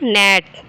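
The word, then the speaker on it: gnat: जाएगा माइन च लेटर इ silent in the word ji नेट तो हम जी को साइलेंट कर देते हैं पढ़ते क्या है इसको नेट नेट क्या पढ़ते हैं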